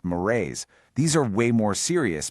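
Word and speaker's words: mores: That's m o r e s, pronounced morrays.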